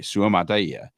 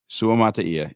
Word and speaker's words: Suamataia: and specifically, we are focusing on BYU's Kingsley Suamataia. By the way, I think that's the correct pronunciation. I actually went and did a little research there to try and nail that. So Kingsley Suamataia, if you guys get a chance.